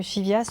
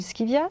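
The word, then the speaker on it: Scivias: essayer de lire le le chivias ou le skivias suivent comme vous voulez le prononcer si vous avez envie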